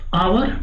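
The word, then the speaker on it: hour: का प्रयोग करते लाइक आवर देखिए य क्या है आवर की स्पेलिंग क्या होती है एच ओ य आर इसमें एच साइलेंट होता हैट्स वा ओ ट्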